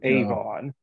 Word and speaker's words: Avon: in Stratford upon Avon did I pronounce that right Avon like like Avon yeah Avon thank you uh he